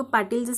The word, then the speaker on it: पाटील: इथे एल लिहून घेतला ल शब्दात शेवटी आहे आणि शेवटी अ चा उच्चार होत नाही म्हणून आपण एल च्या पुढे ए लिहिणार नाही मग पाटीलच स्पेलिंग काय तयार झालं